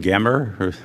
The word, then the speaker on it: Gemmer: The applicant, Baron and Lydia, I'll use the German pronunciation, Gemmer, okay.